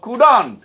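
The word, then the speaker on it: couldn't: কুড নট আমরা কখনোই বলবো না, কথা বলার সময় আমরা বলবো কুডন্ট, এই যে কুডন্ট, তাহলে কুড নট কথা বলার সময় স্পোকেন ইংলিশে, কথা বলার সময় ইংরেজিতে আমরা কুডন্ট বলবো।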